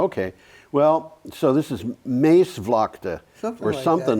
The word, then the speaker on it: Maasvlakte: Dutch is difficult to pronounce because some of the letters just don't sound. Well, like if it's two A's, it's pronounced A. Oh, is it really? Yeah, it's long A.